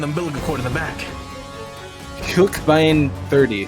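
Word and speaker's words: Huckebein: Hookbein 30. I think it's Huckabine. Well, I mean, in German we pronounce every letter, or just Oh.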